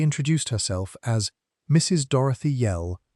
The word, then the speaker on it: Yell: Dorothy Yell, rhymes with tell, not with bell, though it amounts to the same thing in a village.